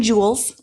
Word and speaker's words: joules: And I think that our attention is, again, the most precious, our human energy, which is measured in joules, like a jewel, like a crown jewel, but it's spelled differently.